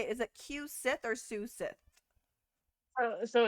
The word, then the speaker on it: Cu-Sith: say it is it Q Sith or suth so it's it's C cooi oh not coochi cooi it's like a banshee cushi cushi okay definitely not gonna